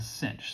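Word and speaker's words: sinh: it looks cosh and cinch so even though i could say this is the hyperbolic cosine function for short we just call it cosh and cinch okay and it turns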